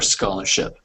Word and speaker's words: scholarship: We've got an SCH sound, SCH spelling. So we're gonna give it a SK for scholarship.